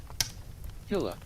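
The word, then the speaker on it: Hillah: Hiller. Hiller. Okay. That Yeah, that makes sense. Like Hill and then Rh. Okay.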